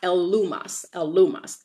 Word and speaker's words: Elymas: And so he calls himself Bar-Jesus, but his real name is Elymas, and it's pronounced Elumas.